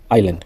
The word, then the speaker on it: island: Et la lettre S, island, comme une île. On dit pas Iseland, on dit Island.